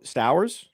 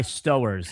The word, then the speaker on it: Stowers: It rhymes with Flowers or Towers.